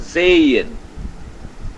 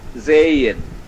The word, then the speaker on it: sehen: Now H can be inside a word and between 2 vowels. V1 and V2. So even there H remains silent. Like SEHEN means is pronounced as Zayin. Zayin.